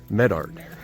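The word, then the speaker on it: Medart: to the town of Medard, and make sure I say that right. On the first syllable.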